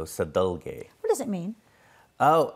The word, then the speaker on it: Sadalge: to pronounce it sure it's pronounced sadal so sadul what does it mean